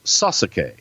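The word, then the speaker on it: Sasuke: mortgage guy from Alabama pronounces his name correctly like they do in Japan it is sus aqui and that brother loved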